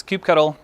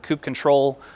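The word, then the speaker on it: kubectl: just getting started will use Cube cuddle or Coupe control or any number of ways to pronounce this I'll leave it up to you I personally use Cube Kettle and that's just the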